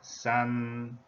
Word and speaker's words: 三: okay on the index we are here now sun the pronunciation of this character meaning three yeah this